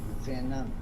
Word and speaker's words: Xenon: I pronounce my name Zenon, like UN. That's how I pronounce it, but I accept Zenon. So it's Zenon? Mate, Zenon? you're an Aussie. It's Xenon.